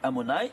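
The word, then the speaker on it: Adonai: Écrit, il s'écrit Amonai. Tu le lis Amonai, mais il s'écrit Yud Kevavke. Pas comme je m'écris, je me lis.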